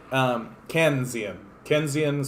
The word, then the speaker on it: Keynesian: I'm the greatest commentator of all mispronouncing important individuals' names. Keynesian, so it's Keynes.